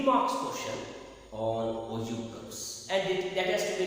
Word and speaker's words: ogive: chapter, that is called Ogive curves. Ogive curves. This is totally a new concept for you. It is not Ogive. The spelling is Ogive, but the pronunciation is Ogive.